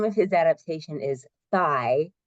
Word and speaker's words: Thy: And the name of his adaptation is Thy, that's how you say it, Thy, like Thy, Thy Hard.